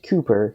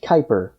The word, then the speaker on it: Kuiper: adventurer you'll know that he's not named Cooper he's named Kuiper as in the Kuiper belt and I didn't realize